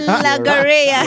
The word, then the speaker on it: logorrhea: Logoria. You're right. Right, so it's Logoria, right? And it's a noun, and it's spelled as follow.